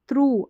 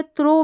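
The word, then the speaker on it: through: अब इसको जो है थ्रो बिल्कुल ना पढ़े क्या थ्रो नहीं पढ़ेंगे थ्रू पढ़ेंगे यहां पर क्या है ओ यजीएच को उ करके पढ़ा जा रहा है ये वाला उच्चारण है तो यहां पर समझ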